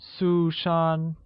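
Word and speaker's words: 苏珊: Susan translates as tosher sue-shaun where sue-shaun is pronounced with two high level tones one on you and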